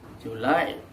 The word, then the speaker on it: July: of july is that the stress for the month of july falls on the second syllable don't pronounce it as